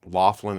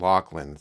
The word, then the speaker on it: Loughlin: I've heard it pronounced Laughlin and Lachlan. One is like the U.S. and then there's like the UK version.